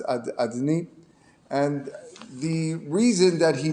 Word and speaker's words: Adonai: The name that we pronounce as Adni.